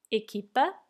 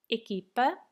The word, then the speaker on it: equipa: Equipa, equipa. The U is silent here.